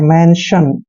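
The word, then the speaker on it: mention: Next है MEN, इसको पढ़ते हैं मैन। और TION को हम शन पढ़ते हैं, मेंशन।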